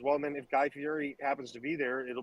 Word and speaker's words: Fieri: It's Fieri. Well, we can pronounce it however we want, because I'm not